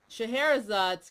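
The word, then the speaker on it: Scheherazade's: is that Shahar yes Shahara zad's grw yeah did I say that right yes you did yay okay you know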